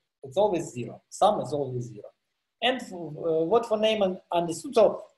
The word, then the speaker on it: Neumann: I think, yeah, Neumann is the right pronunciation.